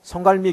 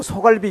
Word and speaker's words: 송갈미: 송갈미 교회라고 하는 조그만 교회에서 목회를 하고 있는데, 우리 지방 목사님들 가운데서도요, 송갈미 교회라 그러면 발음을 잘못해갖고 자꾸 소갈비 교회라 그래요. 여러분, 소갈비 교회가 아닙니다. 송갈미 교회예요.